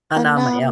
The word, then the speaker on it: अनामयम्: I'm sorry, atmayam. Yeah, when we memorize verses, that's what happens. You know, some other words sneaks into it. Padam gacchanty. Say tya. Yeah. Padam gacchanti Anāmayam.